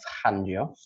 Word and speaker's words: Fangio: I also watched Life of Speed, the story of Juan Manuel Fangio. I got it right. But yeah, I like that pronunciation there.